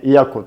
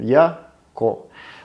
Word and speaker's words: Yacco: звучать по-американски и круто, то есть так и называли там Яко. Ну, по-французски это читается Yaku, поэтому будем сегодня в течение нашего всего видео называть бренд Yaku правильно.